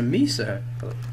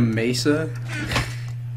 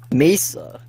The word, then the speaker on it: mesa: nary and i was like oh it's a misa a what what you know the little biome with red sand you mean a mesa it's like oh that's how it's pronounced mesa here's why kind of like what georgia thinks